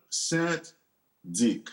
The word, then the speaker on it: St. Dic: Great to meet Is it Saint Dick or Dick? It's Saint. But you can say Saint. It's like